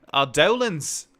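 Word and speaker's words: Eidolon: Like I said, in Final Fantasy 13, they pronounce it idolans. Just thinking fang show is idolans, but I always call it idolon.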